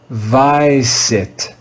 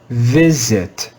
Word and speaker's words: visit: letter I in English, we would read this word as vicit, vicit. But that would be wrong. This word has an irregular pronunciation. Even though the first letter I should be read with the long I sound, it's read with the short I sound. This word is read as visit, visit, visit.